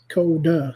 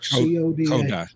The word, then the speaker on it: Coda: Coda. C-O-D-A. Coda. C-O-D-A. Like rhymes with Yoda.